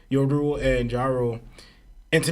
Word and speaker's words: Yoru: And then also too we see Jewel. Is that how you say it? Because there's Ja Rule, then there's Jewel. Yoru, right? Just say like Yo Rule, right?